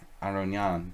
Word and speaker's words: Aronian: a million times um it's an Armenian name and you're supposed to say like our own jaan but I pronounce it